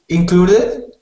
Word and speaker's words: included: good and not um this one is um about the stress on the syllable so it we put we stress the syllable clue so we say clue the loudest so included included including